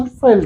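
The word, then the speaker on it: veld: हम लोग यहां पे वेल्ड के नाम से जानते हैं। अंग्रेजी में इसका प्रोनाउंसिएशन फेल्ड होता है।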